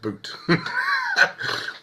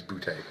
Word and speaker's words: Butte: indeed it's actually spelled it's actually pronounced boot but for for the for the case of this is boute cool okay if he's